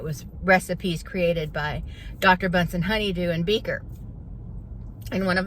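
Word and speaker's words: Bunsen Honeydew: they kept getting Dr bunson honeydew's name wrong they kept calling them bunson burner and I was I was getting so crazy like it's Dr bun honeydew it's Dr bunson honeydew I was getting so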